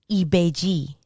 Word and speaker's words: Ibeji: I never heard the N being pronounced. Agayu. Shango. Shango. And in Spanish, chango. So the sh turns into a ch. Ibeji.